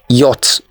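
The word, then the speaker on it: yacht: the next one the silent letters here are C and H so it is yach letter C and H are silent the next one this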